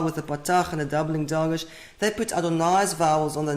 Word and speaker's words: Adonai: Petersburg codex we see they read this as ma Adonai not as ma Jehovah so even though in